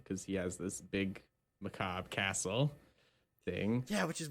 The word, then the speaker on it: macabre: pronounce most of it I think it's just Macabre yeah okay macabre okay I was worried they're